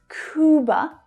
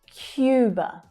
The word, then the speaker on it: Cuba: Cuba, Cuba. So remember, this is the English pronunciation of this word. So it's not Cuba, but Cuba, Cuba. Notice the Y sound that's included.